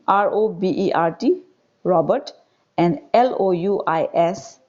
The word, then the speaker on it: Louis: name r-o-b-e-r-t robert and l-o-u-i-s louis though s is here s should be silent so you will pronounce it as louis robert louis stevenson okay